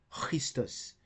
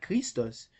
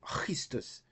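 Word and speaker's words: Χριστός: Okay, so the right pronunciation is like in Christus. It's not Christus, it's Christus. but we can still say Christus with a focus.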